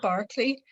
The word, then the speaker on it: Berkeley: the pronunciation of the berkeley barkley um i do say barkley but it's more because if you say berkeley it sounds like it's an adjective and it's like burke like edmund burke like so something